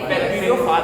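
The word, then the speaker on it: bacteriophage: जीवाणु, बैक्टीरियोफाज बोलेंगे। फेज नहीं बोलते, यहाँ पे फाज बोलते हैं, ठीक।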